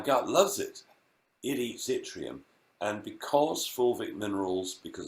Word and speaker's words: yttrium: trace element called yttrium, which is spelt with a Y at the beginning, yttrium.